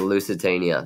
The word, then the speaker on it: Lusitania: It rhymes with Schmushmanchania. You're right. The Lusitania.